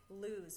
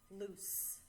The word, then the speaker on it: loose: And a lot of students say lose, but this is not lose, it's loose. Loose 13. Lose, similar word, actually spelled with only one O.